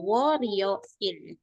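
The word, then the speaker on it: 월요일: Nah, kemudian Senin itu kan wol yo il. Oke. Wol yo il dibacanya sama orang Korea itu wor w wo rio il il ya gitu. Wo ri il.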